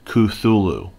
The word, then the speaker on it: Cthulhu: best an approximation okay Lovecraft was inconsistent when suggesting ways to pronounce the name the most popular pronunciation amongst cthulu fandom seems to be Kulu cthulu cthulu cthulu so it's cthulu so I'm going to say during this review cthulu